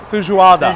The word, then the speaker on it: feijoada: Feijoada.